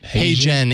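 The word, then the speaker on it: HeyGen: yeah it really is how yeah can you spell that that service you said hey Jen h-e-y-g-e-n I think it might be hey Jen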